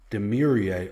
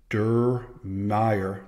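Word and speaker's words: Diermeier: Florida Vanderbilt Chancellor Daniel demier oh that's not how you say it durmire durm Daniel durm started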